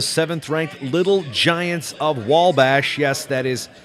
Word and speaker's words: Wabash: ranked Little Giants of wall bash yes that is spelled without an L but pronounced with an L Jason Bryan he with